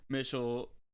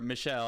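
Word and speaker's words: Mischel: the classic willpower study walter mitchell or michelle i i think is how you pronounce it now a psychologist at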